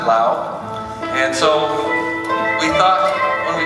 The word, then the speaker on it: Lao: idea never heard of the country of Lao before and that is how you pronounce it Lao and so we thought